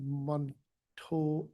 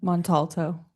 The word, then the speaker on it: Montalto: Um we have staff Sammy um Montto. I can't say that. How do you say your last name? Montalto.